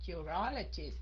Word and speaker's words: urologist: đọc là Why nha urologist Nhấn cái âm thứ hai phải không các anh chị urologist Ok